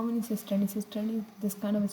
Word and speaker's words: cisternae: This is cisternae. Do not pronounce this as Christie, because Christie is a structure which is present.